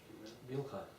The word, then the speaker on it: Bilhah: Bilhah and Zilpah. Yes, you don't pronounce H at the end of those names.